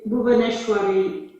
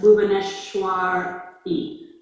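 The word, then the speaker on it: भुवनेश्वरी: so so with with bhuvaneshwari it's re at the end not just bhuvaneshwar e actually in the devanagari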